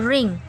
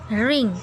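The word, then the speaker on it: wring: इसको देखें प्रोनाउंस कैसे करेंगे, रेड में रिंग, रिंग। ठीक है, यानी डब्ल्यू को यहाँ पे साइलेंट रखेंगे, डब्ल्यू को हम जो है प्रोनाउंस नहीं करेंगे।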